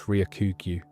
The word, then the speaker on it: Ryokugyu: Before we got his real name, essentially nobody in the English-speaking world could spell or pronounce Ryokugyu. It's got a long vowel in it, and everyone gave up.